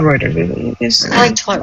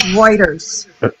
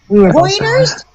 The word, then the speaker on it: Reuters: I like to call it Reuters. The tongue nicer. The correct pronunciation is Reuters. That's too hard to say. Reuters.